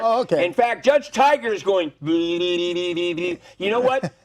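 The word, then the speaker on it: Tigar: I'm not sure how to pronounce it, but No, it's Tiger.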